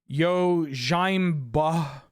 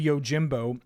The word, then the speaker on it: Yojimbo: If I pronounce Yojimbo as like Yojimba, you can tell me. You can be like, hey Ben, that word's actually Yojimbo.